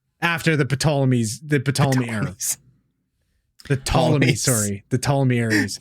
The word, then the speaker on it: Ptolemy: The Ptolemy, the Ptolemy's. The P is silent.